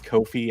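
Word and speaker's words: Ko-fi: which makes more sense technically it's Kofi and I'm weird since I know it's Kofi I have to say Kofi but most people say like buy me a cup of coffee that's the whole idea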